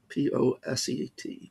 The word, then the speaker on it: poset: many syllables i guess rather than saying partially ordered set over and over again they just say postset p-o-s-e-t poset so a post-set is